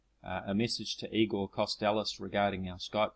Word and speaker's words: Kostelac: apparently Eagle's surname was pronouncing it I was pronouncing it costc earlier uh apparently it is pronounced costalis um I'm taking that uh pronunciation from what